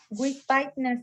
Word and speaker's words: Wittspiner: Wittspiner se pronuncia. With, después. Wittspiner.